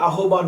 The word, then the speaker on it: আহ্বান: শাখাত হোসেনের প্রবন্ধ আহ্বান এটার উচ্চারণ কিন্তু আহ্বান না আহ্বান বিভূতিভূষণ বন্দোপাধ্যায়ের গল্প মানব